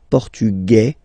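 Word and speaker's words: portugais: The Feminine form okay masculine portug you don't pronounce the S feminine form portuges you pronounce this Z sound okay and then remember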